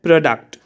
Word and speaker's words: product: in case of stress if we have a noun in most of the cases the first syllable is stressed so for sixth one